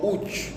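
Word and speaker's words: üç: Namba tatu utamkwa uchu.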